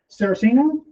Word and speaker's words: Saraceno: Uh, right now I've got Landon Cerosino. Yes, sir. Is that it? Yep. Is that how you pronounce it?